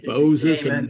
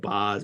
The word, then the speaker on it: Boz: it for his, and that's why you can pronounce it Bose instead of Boz, because we know it comes from Boses, from Moses.